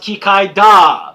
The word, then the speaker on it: Kikaida: In Japan, it's pronounced Kikaida, because is it katakana or hiragana? Wow, I just lost all my Japanese cred. Anyway, it's da at the end, not der. That's the Americanization of the pronunciation.